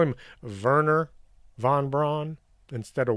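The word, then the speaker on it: Wernher von Braun: but known as wagerer the germans pronounce their w as a v and the v is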